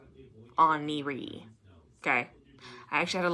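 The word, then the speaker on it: Oneiroi: n e i r o i but it's pronounced on E oniri okay I actually had to look that up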